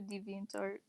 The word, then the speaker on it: DeviantArt: Does anyone actually pronounce the T in DeviantArt? Oh, wow. Well, Wow. never pronounced the T.